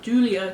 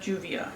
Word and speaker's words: Juvia: The Milk Makeup Primer, the Urban Decay Brow Endowed, and the Mauves by Julia, for Juvia's Place, not Julia, Juvia. Mispronunciation on my part.